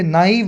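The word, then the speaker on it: naive: में नाइव ठीक है लिखी है ना मैंने स्पेलिंग य नाइव बोलते हैं इसको नाइव एकदम नौसिखिया सा जो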